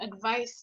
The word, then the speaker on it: advice: The pronunciation is so. Another one is on the ace and Mm-hmm. l'autre on a Z.